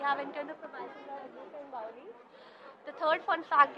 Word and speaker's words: Agrasen: I always pronounce it wrong. It's Agrasen.